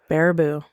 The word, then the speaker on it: Baraboo: Baraboo. Baraboo.